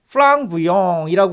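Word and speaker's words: flamboyant: 타오르는 그런 모양이라고 해가지고 플랑부아양이라고 합니다. 제가 이거 프랑스어 발음을 한번 찾아서 들어보니까 플랑부영이라고 이렇게 약간 코맹맹이 소리가 나더라고요.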